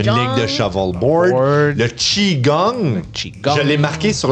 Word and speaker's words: Qigong: C'est le Qigong, même si ça s'écrit avec un QI.